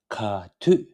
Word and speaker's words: ག་དུས: So let's learn the pronunciation first. So the ka, ta shepju, tu sa tu, ka tu, ka tu, ka tu, ka tu.